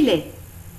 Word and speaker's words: lait: Du lait, du chocolat, du café au lait, du thé, du jus de fruits, du pain, des biscuits, des biscottes. Attention, dans le mot lait, on ne prononce pas le T.